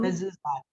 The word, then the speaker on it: mezuzot: What's just give me by syllable? Mi, Yeah. zu, Mezuzot.